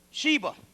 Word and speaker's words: Shiva: Sheba, yeah, S-I-V-A, but it's pronounced Sheba.